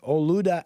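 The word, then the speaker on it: Olaudah: uh portraits of the man that's how you spell it though o-l-a-u-d-a-h o Luda equiano equiano e q u i n is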